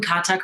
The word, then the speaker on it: Kathak: Tonight, I'm thrilled to announce our next act, the Leela Dance Collective, led by DU faculty member and leading Kathak performer Sarah Morelli and alumna Carrie McClune.